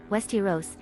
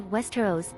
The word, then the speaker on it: Westeros: According to the TV series official pronunciation guide developed for the cast and crew, Westeros is pronounced Westeros, as opposed to Westeros, etc.